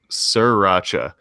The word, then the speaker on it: sriracha: where they get the guy saying no it's pronounced sriracha and i can't tell if they're making a